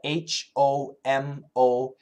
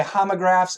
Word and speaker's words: homographs: I'll spell it H-O-M-O-G-R-A-P-H-S. Homo. People will say homographs and people say homographs. You'll hear both pronunciations.